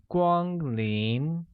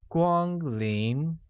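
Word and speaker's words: 光临: in the presence of a guest translates to Gwang lien which is pronounced with a high-level tone on a a mid rising tone on I making it Gwang lien thus welcome guests becomes Kwan in Gwang lien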